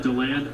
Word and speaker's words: DeLand: How do you know it's DeLand instead of DeLand? I'm trusting the people that are local to the area when they call it DeLand. I'm going with what they say.